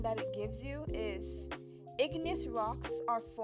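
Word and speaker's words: igneous: But that was engineous rocks. I should actually ask how it's said. or how it's pronounced because I'm probably saying it wrong. So, let's see how it's pronounced. Ignous.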